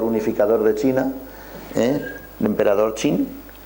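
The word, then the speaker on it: Qin: de China eh emperador chin kin pero se pronuncia chin Parece ser que ese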